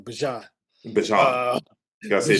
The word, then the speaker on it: Bijan: That's how you say it, pronounce his name, Bijan.